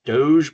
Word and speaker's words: DOGE: which is do G which I'm told is pronounced Doge by the hipper people that I know um